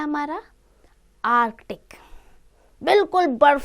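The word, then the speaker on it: Arctic: क्योंकि स्पेलिंग है आर्कटिक कई बार होता है ना आर्टिक बच्चे लिख देते हैं सी को गायब करते हैं नहीं आर्क टिक तो हम क्या करेंगे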